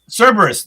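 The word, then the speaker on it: Cerberus: So, that's what Cerus uh Cberus Cberus.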